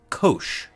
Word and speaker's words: cosh: as the hyperbolic cosine, sometimes pronounced cosh.